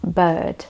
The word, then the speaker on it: bird: However, if the vowel is placed before the R, most of the time the R is pretty much silenced and you don't really roll your tongue.